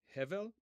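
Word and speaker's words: הבל: So Havel Havalim, vanity of vanities, the first word in the Hebrew text, okay, is, and I'm putting this in the chat here for you, we typically pronounce it as Hevel, okay?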